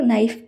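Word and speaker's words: knife: लोग नाइफ बोलते हैं के एन आई एफ ई के का यहां प्रोनंसिएशन नहीं होता यह साइलेंट होता है और इसे हम लोग नाइफ पढ़ते हैं नेक्स्ट है कैची कैची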